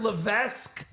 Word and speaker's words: Levesque: they're back say Mr Levesque Mr Levesque not Levesque you don't pronounce the S it's just l l